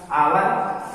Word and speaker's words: hour: जैसे आवर है तो HOUR, आवर शब्द के बिगिनिंग में H है, इसलिए H साइलेंट रहेगा, यहाँ O से इसका उच्चारण होगा आवर।